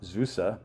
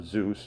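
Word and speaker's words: Zuse: So, we have Conrad Zusa or Zeus if you want to pronounce it that way, but it's pronounced Zusa.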